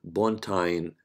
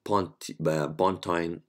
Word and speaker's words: pontine: It's called pontine flexure. You can say pontine, and some people like pronounce it pontine.